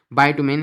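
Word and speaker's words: bitumen: एंड में है बायटुमिन या ब्यूटमिन। इस तरह भी आप इसको प्रोनाउंस कर रहे हैं।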